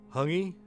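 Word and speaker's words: hāngī: cook up a haggy pronounce hungi is a hungi hungi hung eat which is maori traditional cook up oh nice the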